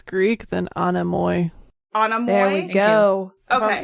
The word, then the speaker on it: Anemoi: They're also known as the Enamois.